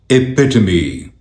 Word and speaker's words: epitome: इस वर्ड की सही प्रोनाउंसिएशन है एपिटमी, एपिटमी, एपिटमी, एपिटमी, एपिटमी, एपिटमी, epitome, epitome, epitome.